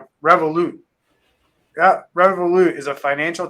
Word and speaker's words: Revolut: revolt is that am I saying it right revolute yeah revolut is a financial technology company um